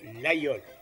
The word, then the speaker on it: Laguiole: du fameux couteau lol lequel en dépit de son orthographe moderne a conservé sa prononciation ancienne et occitane de l'ayol visitons ensemble un des